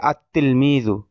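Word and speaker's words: التلميذ: কিন্তু উচ্চারণ হবে আত্তিলমিযু। লামটা লেখায় আসবে কিন্তু উচ্চারণে আসবে না এই বিষয়ের আলোচনা।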